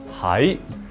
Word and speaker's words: 喺: This one, without the mouth on the left-hand side, is a flat tone. It's tone number 6, hai. And this one is tone number 2, hai.